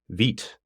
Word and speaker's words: Vite: I should have known that because I know a little bit of French, but for whatever reason I had always pronounced it vite when I first saw it.